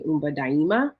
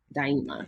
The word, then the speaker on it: Umba Daima: But it's Swahili for create forever, which is and the pronunciation is actually Umba Daima. Dimina? Daima. So like Daima. die, Okay. like dying, and then so die, and then ima, Daima.